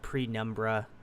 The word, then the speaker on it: Penumbra: This one's called Penumbra. I did pronunciate it right.